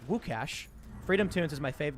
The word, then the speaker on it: Łukasz: By the way, I believe Luke is Lukasz in Polish, pronounced Łukasz.